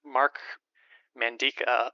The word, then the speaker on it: Mark Mandica: and today we're going to be speaking with Mark mandika of the amphibian Foundation did I pronounce that right you did thank you excellent